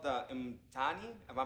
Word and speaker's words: Mtaani: It's called the Mtani. Am I pronouncing it right? Which one? Mtaani.